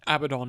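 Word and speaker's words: Abaddon: Abad all hope you but abidon is its pronunciation within Warhammer which Warhammer Warhammer the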